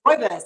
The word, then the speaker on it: rooibos: rooibos.